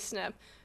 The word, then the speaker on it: SNP: out in our conversations what is a snip well no Shannon you don't spell it SN you're never going to figure out what it is that way it's SNP it stands for single